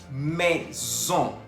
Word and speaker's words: maison: Maison. Maison. Se escribe M-A-I-S-O-N. Tenemos la presencia de la A-I que se pronuncia E y la O-N que se pronuncia ON. Por eso decimos maison.